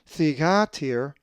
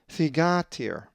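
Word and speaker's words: θυγάτηρ: If you said thegatir, you are correct, as the accent is over the alpha, thegatir.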